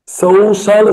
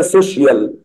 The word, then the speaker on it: social: Social studies. CIAO بتتنطق shall، فنقول ايه؟ social studies. هتلاقي ناس كتير بيغلطوا يقولوا عليها سوشيال.